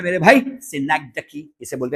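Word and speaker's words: synecdoche: सा है मेरे भाई, सिनेक्डकी। इसे बोलते हैं सिनेक्डकी। बहुत सारे टीचर सिनेक्डॉच ऐसा कुछ बोलते हैं, लेकिन उसका प्रॉपर प्रोनाउंसिएशन यही होता है, दैट्स नोन एज सिनेक्डकी। इसे सिनेक्डकी बोला जाता है।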